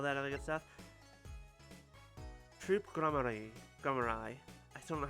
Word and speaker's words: Gramarye: Grammari. Okay. Hey, thank you for telling us how to pronounce it.